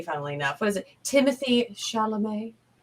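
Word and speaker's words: Timothée: enough what is it timothy charlemay it's not timothy he said it is it can be timothy but they he pronounces it timothy i had to look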